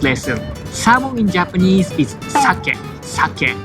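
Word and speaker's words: 鮭: Salmon in Japanese is sake. Sake. It's same pronunciation as alcohol, sake. I think the correct pronunciation is sake, but many Japanese call sake as shake.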